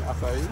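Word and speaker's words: açaí: Acai?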